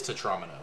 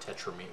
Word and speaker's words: tetromino: It is tetromino. It's not tetramine.